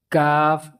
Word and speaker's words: کاف: پیچھے پڑھ چکے ہیں۔ اس کو کیاف نہیں پڑھنا، کیاف بالکل غلط ہے، جیسے کیاف پڑھا جاتا ہے یہ غلط ہے، اس کو کاف ہی پڑھنا ہے، یہ موٹا قاف